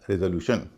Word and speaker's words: resolution: पहला शब्द तो वही है जिस पर हम बात कर रहे हैं, RESOLUTION। इसमें TION से पहले 3 वावल हैं, ई, ओ और यू, और इसमें आरी का उच्चारण रे हो रहा है, इसलिए इसको बोला जा रहा है रेजोल्यूशन।